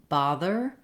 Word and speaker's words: bother: But the difference in these words comes in the vowel sound, the first vowel, and the TH sound versus the flap T sound.